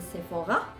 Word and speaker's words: Sephora: little palette from sephora you have to pronunciate it in french is a sephora is um this miniature